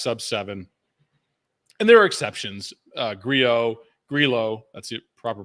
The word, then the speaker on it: Grillo: Grillo, that's the proper pronunciation.